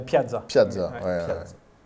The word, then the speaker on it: Piazza: Isuzu Pizza. Ah, ouais, je l'avais pas. ça. Non, c'est la Piazza.